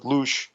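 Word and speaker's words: loosh: with the term losh l-o-o-s-h lotion is where i pronounce it david wilcock calls it luche whatever anyway it's a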